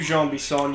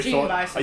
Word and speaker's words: Jean Bisson: I remember when I first saw it, like, I saw this guy's name before I heard it pronounced, so I literally Gene Bison. Yeah, I thought his name was Gene Bison. I forgot about the French-Canadian bullshit.